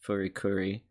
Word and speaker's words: FLCL: Yeah, here's some trivia for Foley Cooley. Despite the title spelling, the title's intended to be pronounced Furikuri.